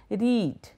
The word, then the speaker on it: read: Generally it is sound read, R-E-D. I mean people, commit mistake. They are new learners. However, the pronunciation is quite different with the present tense using a long A sound like read, and the past tense